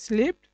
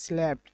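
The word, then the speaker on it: slept: এখন আমরা পাস্ট টেন্সে দেখব, যে আমরা পাস্ট টেন্সে দেখব স্লেপ্ট, যে আমরা বলি স্লিপড আর এটা হচ্ছে উচ্চারণ হবে স্ল্যাপ্ট।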